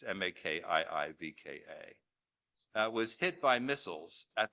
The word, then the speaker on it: Makiivka: This past New Year's Eve, a dormitory full of fresh Russian army recruits in the city of Makivna, I can't pronounce it, sorry, it's Makiivka, was hit by missiles